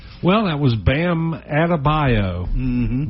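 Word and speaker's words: Adebayo: Well, that was Bam Adabio. That that you wouldn't think that would be how you'd pronounce his name, but he added to his bio for sure.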